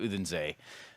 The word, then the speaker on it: Odense: and it is an even longer road to Katowice than it is to Odense. Odense. You did it like the American pronouncer. Odense. Oh, Odense.